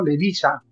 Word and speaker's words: Levica: en eslovenia de izquierda radical que se llama levica levica en esloveno levisa se pronuncia porque la se pronuncia como como ese